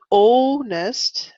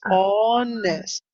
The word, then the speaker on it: honest: sure um let's say that word honest again you said oh nest and it's honest honest yes even in British English they say oh honest Americans say honest so you can say but it's not o um an oldness and that's honest honest they're honest all right